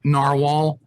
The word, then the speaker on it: Narwhal: That doesn't spell that does not spell narwhal. Navalur. But they still pronounce it narwhal because apparently they had some legal problems. You couldn't trademark an animal name. I'm thinking, really? I'm thinking Jaguar Motors, had been around for like decades. They managed to do it, but so they changed their name, and I guess Navalur, or supposedly still pronounced narwhal.